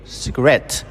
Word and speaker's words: cigarette: But when we add the suffix it at to create cigarette. The straight moves to the second syllable which is cigarette.